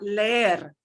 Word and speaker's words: leer: Leer. Leer. If it only had 1 E, it would sound like leer.